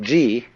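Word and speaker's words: 事: are so that you get the point first of all there is a a level of being which we will call G the word g which is Japanese way of pronouncing the Chinese chur is the world of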